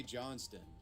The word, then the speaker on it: Johnston: And I know it looks like John Stone for you American viewers, but it's pronounced Johnston in the Australian dialect.